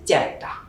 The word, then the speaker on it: চেপটা: আমরা যদি লিখি চেপটা, এর উচ্চারণ হবে চেপটা। তো এখানে আমরা দুটি শব্দ লিখেছি, তেলাপোকা এবং চেপটা। এই দুইটাই হচ্ছে খাঁটি বাংলা শব্দ, এবং খাঁটি বাংলা শব্দের আদিতে মানে শুরুতে একার আসার কারণে এই এর উচ্চারণ এর মতো হয়েছে। তেলাপোকা হয়েছে তেলাপোকা, চেপটা হয়েছে চ্যাপটা।